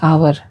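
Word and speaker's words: hour: हैं an apple an आवर an honest अगर हम आवर ऑनेस्ट वर्ड को देखें तो यह एच से शुरू होता है जो कि कंसोनेंट है लेकिन इसका उच्चारण वॉवेल की तरह होता है इसलिए इसके पहले एन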